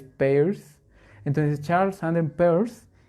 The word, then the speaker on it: Peirce: Eso también no se pronuncia Peirce, se pronuncia Peirce, porque de hecho se escribe Peirce, no Pierce, es Peirce.